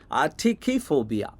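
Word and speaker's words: atychiphobia: I think you need to know the original, though. I don’t want to be blamed for teaching the wrong pronunciation, after all! Aty-ki-fobia, is the original. But I thought if you remembered it differently, your motivation and willpower will go up! Aty-ki-fobia is the right one!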